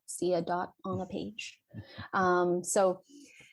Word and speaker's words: Siadat: just my name seadot and that's c-y-n-t-h-i-a-s-i-a-d-a-t uh and pronounced like c a dot see a dot on the page um